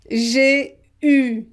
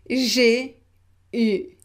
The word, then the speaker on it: j'ai eu: J'ai eu, j'ai eu. Yeah, it's different. U, U, U. So here we pronounce it as if we had only the letter U. J'ai eu.